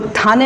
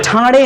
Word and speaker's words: ठाणे: वो थाने नहीं है, वो ठाणे है।